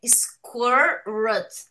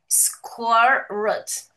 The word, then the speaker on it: sqrt: Então, a pronúncia é scorrut. Lê-se algo como scorrot.